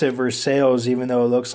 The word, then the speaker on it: Versailles: Okay, and you pronounce it Versailles even though it looks like Versailles.